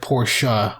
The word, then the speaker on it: Porsche: they pronounce it like portia whereas here we don't the e is silent so we just kind of like say oh it's porsche then how come we